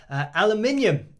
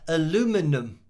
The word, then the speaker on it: aluminium: And not only do you spell it differently, but you say it differently. You say aluminum. that's something that, yeah, I've seen on TV in American shows, and it's definitely here. Aluminium is what we say, and obviously how we spell it, but then aluminum is just funny to hear it like that because it sounds totally different.